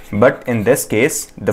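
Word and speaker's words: des: Okay, and this will be pronouns as दे, दे।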